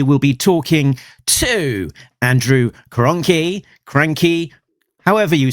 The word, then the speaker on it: Krahnke: We got your name wrong in our previous episode. Your name is Krahnke.